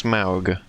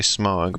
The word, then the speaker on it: Smaug: Actually, I think it's supposed to be pronounced Smaug. I always say Smog, but I think it's like an ow sound.